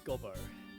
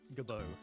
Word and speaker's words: Gobbo: It's Gobbo. G-O-B-B-O. Gobbo. I think it's Gobbo.